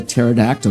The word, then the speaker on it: pterodactyl: Why can't you hear a pterodactyl urinate? Because they don't pee. Because the P is silent.